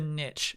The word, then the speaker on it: niche: what was that chat Niche is a correct pronunciation I did not say the correct pronunciation but an absolutely viable pronunciation Kyle is right I